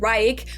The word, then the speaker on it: Reich: But since the word includes the tricky CH sound, most English native speakers say Third Reich, which is fine too.